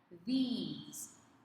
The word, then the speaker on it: these: There is a difference in pronunciation. This, it's the short I sound, and then we have the these. It is the long E sound for plural form.